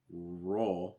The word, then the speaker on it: role: with more position my rule i think it's notice how he says role he almost pronounces it more like rule but it's more raw all all with that o sound if you need some